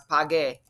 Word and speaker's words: pague: And now when we put the U, when a G is next to a U, it's a hard G. So now it's pague.